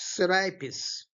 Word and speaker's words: Serapis: So, Sarapis is generally pronounced Sarapis, but Milton is uh shortening the A like the Latin poets or seat their kings when Egypt with Assyria strove in wealth and luxury.